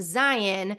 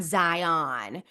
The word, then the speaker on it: Zion: And yes, it's pronounced Zion, not Zion.